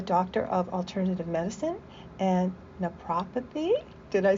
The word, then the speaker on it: Naprapathy: She is a doctor of alternative medicine and nepopathy.